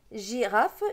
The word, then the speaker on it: girafe: petit peu pour voir le monde j arraf girafe il ya un hic juste après le g donc ça se prononce jeu et n'ont pas d'yeux